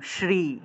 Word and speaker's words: শ্রী: আরেকটা দীর্ঘ ইকার দিলাম শ্রী উচ্চারণটা কি হবে শ্রী আমরা তো আসলে স্রী বলে ফেলি শ্রীয়ার উচ্চারণটা কিরকম দন্তস